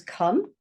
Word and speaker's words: come: So this one is come. Now the O there is saying a sound. Come. And you can't hear the E.